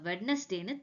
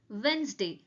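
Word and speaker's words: Wednesday: இதை நம்ம வெட்னஸ்டேன்னு தப்பா ப்ரொனவுன்ஸ் பண்ணோம் அப்படி நம்ம சொல்லக்கூடாது. This is known as வென்ஸ்டே. எப்படி சொல்லணும்னா வென்ஸ்டே.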